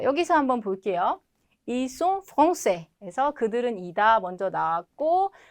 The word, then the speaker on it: français: 끝에 있는 s는 어차피 발음이 되지 않는다. 그래서 말할 때는 신경 쓸 필요도 없다. 근데 스펠링 쓸 때만 주의하자. 자, 여기서 한번 볼게요. Ils sont français.